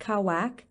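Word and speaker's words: Qawaq: Inca World Aluna is considered a kaak pronounced kawak a clairvoyant or Seer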